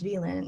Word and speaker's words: Vylinh: confidence to say like oh my name's actually pronounced villain and i'm still i'm